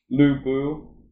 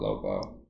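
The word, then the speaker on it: Lü Bu: the first one was lubu think is how you pronounce it i call it lobo but it's about lubu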